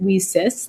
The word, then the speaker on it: WiCyS: acronym wi cyss and we pronounce it we sis like we sisters because as you know